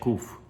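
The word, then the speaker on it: ק: But the Bukharians and most of the Sephardic world, they do say kuf. A hard Q.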